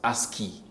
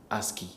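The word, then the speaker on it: ASCII: The correct answer is the American Standard Code for Information Interchange AS CI II pronounced ASKI. ASKI.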